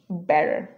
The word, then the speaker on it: better: এটা উচ্চারণ হয়ে যাবে ফ্ল্যাপিং করলে better.